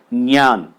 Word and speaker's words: ज्ञ: और इसका जो शुद्ध उच्चारण है वो है ज्ञान, वैज्ञानिक।